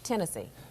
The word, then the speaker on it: Tennessee: it Tennessee it's Tennessee Tennessee the uh uh Tennessee not not like not like the conac but like the state you know it's not henness it it doesn't rhyme with Hennessee it's Tennessee Tennessee but Memphis okay town